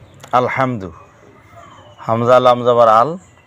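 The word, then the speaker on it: الحمد: নামাজের মধ্যে যদি কেউ আলহামদু পড়ে তাহলে নামাজটা ভুল হয়ে যাইব। আমরা কিভাবে পড়তাম? আল হামদু। আল হামদু।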